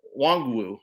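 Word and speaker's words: Nwangwu: bit but uh caney wong wu uh i think it's wong wu is how you pronounce it i think the uh the inn is silent but this is two touchdown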